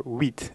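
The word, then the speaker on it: huit: pronunciation of the number wheat is very simple it's essentially pronounced like the English word wheat for the grain so as long as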